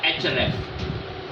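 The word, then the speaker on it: Ahrefs: इसमें सबसे पहले आपका एच रेफ ये साइलेंट है उसमें बहुत मशहूर है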